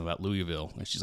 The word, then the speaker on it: Louisville: if you pronounce it phonetically, it would be Louisville. Louisville. It would be Lewisville. Well, yeah, but it's according to spelling. Yeah, but but it's Louisville. Yeah, but phonetically it's three syllables. If you're from the south, it's about one and a half. It's about one and a half is what it is.